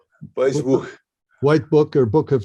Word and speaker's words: Weissbuch: I don't, but I know enough that the W's are V's. Yeah, Weissbuch. Weissbuch.